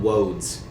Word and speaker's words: woads: Like, He's calling them woads. Is it spelled like roads, but with a W? It is. Okay.